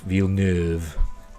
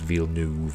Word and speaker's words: Villeneuve: By the time I'm pronouncing it Villeneuve. I've heard people say it's Villeneuve, but I say Villeneuve because it means new town, doesn't it? In French.